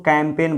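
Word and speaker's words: campaign: ऐसा नहीं कि फॉरेग्न, ग का उच्चारण जी से ग होता है ना, जी से ग का उच्चारण नहीं होता है। उसी तरह इसको कैंपेन बोला जाता है, यहाँ पर भी जी के बाद एन आया है तो जी को साइलेंट रखा जाता है।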